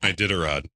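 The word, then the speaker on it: Iditarod: And most famously, the ID I How do you pronounce it? Ididarod.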